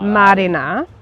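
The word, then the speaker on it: mārena: you say weddings well Marina is marriage Marina Marina Marina Marina Marina so there's a merron which is the line over the first a which you elongate it so that's why it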